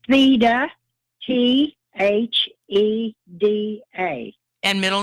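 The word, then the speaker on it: Theda: So if you would say the first name and spell it for me. It's Theta, T-H-E-D-A.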